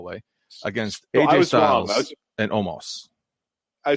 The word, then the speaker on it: Omos: Omos. Like, there's no A in his name, first of all. 2 O's, so it should be Omos. Where are you getting Amos or Omos?